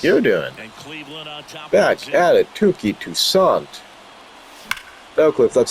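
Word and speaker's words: Touki Toussaint: Tuki Toussaint.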